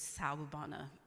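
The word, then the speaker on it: Sawubona: Service as well so the proper pronunciation of the first term is salubana can you say that so sour bonna is a South African term and I learned it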